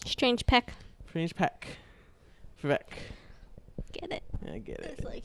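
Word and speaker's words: Veck: I thought they were just like mispronouncing Vic the whole time, but it's Vec with an E. Vec.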